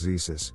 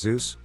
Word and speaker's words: Zeus: god i chose to do my project on zeus however i was nervous and for some reason referred to him as jesus jesus with a z the presentation was like